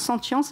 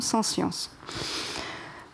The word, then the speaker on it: sentience: Donc c'est très bien d'utiliser ce mot sentience qui se prononce sentience et non sans science.